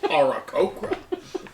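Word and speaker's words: Aarakocra: Have you ever met an Oracocra? Yes, actually. Arakokra. I will say, It's pronounced Arakokra.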